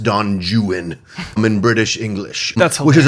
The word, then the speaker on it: Don Juan: novels there's Lord Byron wrote a book it's Don Juan but you it's pronounced Don jwan in British English which is a verse novel